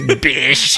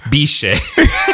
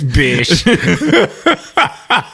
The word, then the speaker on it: Bysshe: Bish. I would have pronounced that Biche. Nope, it's Bish.